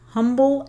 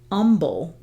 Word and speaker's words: Humble: a a town called humble but it's spelled humble right it's got the h but um but they don't pronounce the h and I kind of